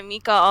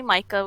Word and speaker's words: Mika: so free name but I do go by Mikah obviously like that's my dis coordinating that's everything else it's easier to pronounce sometimes unless people call me Micah which kind of sucks we don't want to